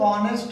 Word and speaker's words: honest: Here honest लिखते तो हम लोग honest हैं, यहाँ H बोला नहीं जाता, H साइलेंट है, इसको हम लोग सिर्फ honest ही बोलते हैं।